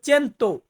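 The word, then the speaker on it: cento: বা 100 শত এটাকে আমরা ইতালিয়ান ভাষাতে বলবো চেন্ত চেন্ত মানে হচ্ছে 100 বা 100 সো ভিউয়ার্স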